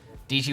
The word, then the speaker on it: Dietschy: She said it rhymes with peachy.